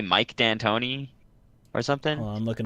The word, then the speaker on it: D'Antoni: 99% sure it should be pronounced D'Antoni. That's why you put an apostrophe in a fucking name to denote like a separation. But no, there's like D'Antoni. Dude, we're in America. It's D'Antoni.